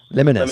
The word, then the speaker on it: Liminus: Liminus. Liminus.